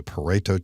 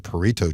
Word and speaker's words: Pareto: 2016 is called a Pareto chart now you would pronounced differently possibly a Pareto chart or even a Pareto chart a Pareto chart